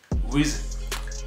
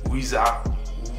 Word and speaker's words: RZA: tout ce qui touche, Wiz ou Wizza ou RZA, en fonction de comment les gens le prononcent.